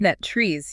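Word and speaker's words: NTREIS: NetTrees, yeah. It ends with that tress sound, like the word rest.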